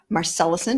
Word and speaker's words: Marcelissen: and today I'm here with the fabulous Melissa marcellusen did I pronounce that correctly you did very good yeah